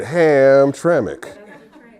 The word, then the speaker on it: Hamtramck: that is a d-girl right there she said hamtramck uh the closest place to get food was